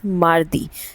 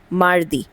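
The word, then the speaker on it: mardi: वी से इट ऐज़ मारदी। सो एम ए आर and then D आई मारदी।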